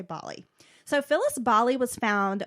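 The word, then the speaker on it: Bohle: say her last name maybe it's boule it's b-o-h-l-e okay so would you say bali i'll say bali so phyllis bali was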